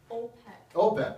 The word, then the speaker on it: OPEC: that's the big one it rhymes with gold pack OPEC right so this is